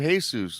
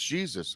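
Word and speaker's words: Jesús: he goes no it's Jesus I'm like okay but in Spanish J's are pronounced like H's that's right yeah so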